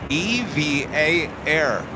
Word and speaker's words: EVA Air: by the airline itself the voice over said EV V A a evv air that is officially from the airline itself so we've been saying it wrong this whole time EV